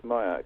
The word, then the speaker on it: Mayak: They were pointing at that Mayak. I don't know if that's how you pronounce it. Yes, Mayak, yes.